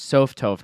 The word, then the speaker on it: sophtoph: But the correct pronunciation is sophtoph, not sophtoph.